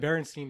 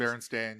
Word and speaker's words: Berenstain: Because I always said Berenstein Bears. Yeah. Never thought of it as a kid, how it's spelled. And then it's Berenstain Bears. It's Berenstain, yeah.